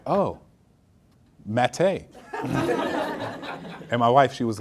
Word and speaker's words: Matte: And I was like, oh, mate. And my wife, she was like, no, it's Matt. And I was like, that might be Matt, but this is Mate.